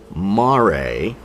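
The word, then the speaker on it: mare: one separately but the flat lowlands are called Mar m a r e mar and that's the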